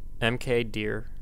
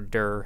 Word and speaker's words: mkdir: create a directory now make directory MK deer or dur however you want to pronounce it is the make directory